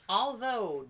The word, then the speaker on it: although: we have another one o u g h with a long o as in although do furlough and thorough although in spite of